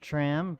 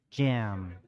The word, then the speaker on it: Tram: your name it's because it's probably not tram just because it's spelt tram right and it's actually jam jam yeah jam like jam and jelly oh okay well now